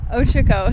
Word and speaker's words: Ochoco: This is the Ochoco, is it? No. Ochoco's. Ochoco. Sorry, I'm putting the wrong emphasis on the wrong syllable.